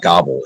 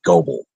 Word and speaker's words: Goble: It's not Gobble. It's actually Goble. Goble. So you will always hear me say Goble because I'm saying it correctly, and you people you don't know what you're doing, which means you're ignorant. His name is Goble, not Gobble. And for it to be Gobble, there would have to be two B's and an L and an E.